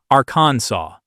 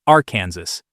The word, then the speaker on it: Arkansas: And because French has that quirky rule where the final S is silent, the correct pronunciation became Aransaw.